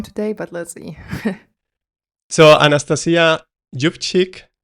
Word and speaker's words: Anastasiia Yuvchyk: So Anastasiia Jubchik, right?